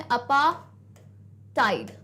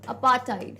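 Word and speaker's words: apartheid: नहीं आता है इसमें, अपार्टाइड, अपार्टाइड है ना, आर का भी साउंड नहीं आता है, आर और थ का साउंड नहीं है, दिस इज अपार्टाइड ना।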